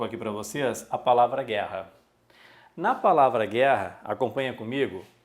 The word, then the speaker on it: guerra: o g u tá e o que que ocorre com esse g u o u não é pronunciado não é Gu erra então aqui existe um